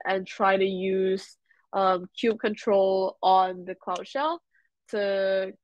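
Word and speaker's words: kubectl: okay there you go Ruben said some people pronounce control as cube cuddle or cube CTL um so I saw online saying that the correct term is Cube control but hey who's to say what's X what's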